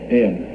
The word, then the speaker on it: Iain: Iain. Yes. Yeah. The spelling is a little different than Iain usually. It is, yes. It's the Scottish way.